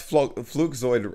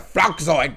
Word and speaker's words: Flugzeug: First of all, he didn't even pronounce flugzeug like properly. He said Flugzeug. It's Flugzeug.